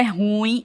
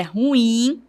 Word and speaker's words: ruim: A palavra não é ruim, é ruim, certo? Então, a partir de agora, você pronuncia corretamente a palavra ruim. O assento é tônico no i, no inim.